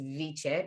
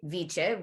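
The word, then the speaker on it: wicce: it meant wisdom it was spelled w or pronounced viche but w-i-c-c-e with viche which in the old germanic languages which really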